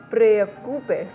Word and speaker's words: preocupes: No te preocupes. Preocupes. Preocupes. Sin pronunciar tan fuerte la R.